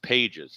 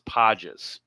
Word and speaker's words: Andy Pages: His name is not pronounced Pages, it's Pages.